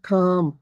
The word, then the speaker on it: calm: The cat is sitting calm. मैंने बताया था M से पहले L साइलेंट रहेगा, calm.